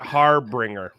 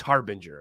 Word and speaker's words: harbinger: just put it because I thought harbringer when I first read it and even though there's no second R it's Harbinger and it looks like